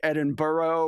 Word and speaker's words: Edinburgh: I'm really trying um I feel like Edinburgh is the only Town that's actually longer than it's spelled most things are shortened and they say they found another syllable to add so the Scots